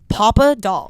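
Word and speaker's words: Papadol: that today on Instagram someone asked how to pronounce my last name I was like oh yeah that actually makes sense papad papa papa doll Papa doll it looks so much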